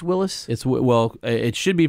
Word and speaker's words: Willys: You said Willys, but didn't you correct me and say it's Willis? Well, it should be pronounced Willis.